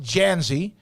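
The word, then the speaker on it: Dzansi: the origin of your last name is d-z-a-n-s-i pronounced Jazzy where's the origin of that so my dad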